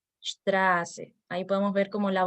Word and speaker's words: Straße: Con respecto a la letra S, la vocal que antepone a esta letra se transforma en una vocal larga, como es el caso de la palabra Straße. Straße.